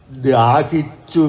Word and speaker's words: ദാഹിച്ചു: ശ്ലോക പഠിപ്പിക്കുന്ന രീതിയുണ്ട് ആദ്യ ദാഹിച്ചു എന്നുള്ളതിന് ദ എന്നുള്ള അക്ഷരത്തിന്റെ ഉച്ചാരണത്തിൽ വളരെ നിഷ്കർഷിക്കാനുണ്ട് അദ എന്നാവരുത് ദ എന്നാവണം ദാഹിച്ചു വിടർന്ന അതിലും ക്ലിഷ്ടമാണ് ജയ